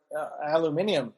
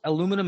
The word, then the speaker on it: aluminium: that down it's like is that the same amount of syllables aluminum and aluminium there's a difference i can't even tell